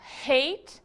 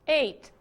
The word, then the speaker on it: hate: E cuidado aqui com o seguinte, hate, ódio ou odiar, que se não for pronunciado o H, pode dar uma confusão e virar o passado de eat, que é ate. Aí fica o passado de comer, não é?